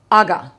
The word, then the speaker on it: Aga: Now, Aga.